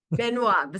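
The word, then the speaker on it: Benoît: his name correctly but Ben Beno Ben benoa benoa thank you Beno Mandel BR or Mando BR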